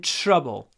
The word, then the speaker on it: trouble: With беде, we're in trouble. Please remember, when we pronounce TR, we usually say ch, trouble, ch, trouble, trouble.